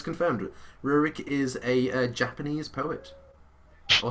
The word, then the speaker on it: Rurik: How do you pronounce that? Royrick? Rurik. Rurik. Rurik. It sounds kind of Russian when you try it. Or Japanese. Rurik. Russian Rick. It sounds like you're saying lyric Japanese.